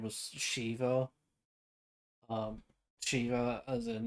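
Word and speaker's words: Sheva: uh as in like you know it's pronounced Shiva but it's it's written as s-h-e-v-a and it's supposed to be referenced to Shiva the summon from Final Fantasy because this was a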